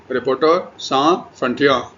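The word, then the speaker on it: Reporters sans frontières: French में इसका नाम है रिपोर्टर सा फ्रंटिया। ठीक है? रिपोर्टर्स सा फ्रंटिया। फ्रेंच में प्रोनाउंसिएशन है।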